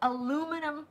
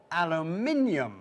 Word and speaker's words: aluminium: So we call it aluminum foil. Aluminum foil. How interesting. We call it aluminium foil. Aluminium. Aluminium? I don't think, did I say it right? Aluminium? Yeah, you said it beautifully.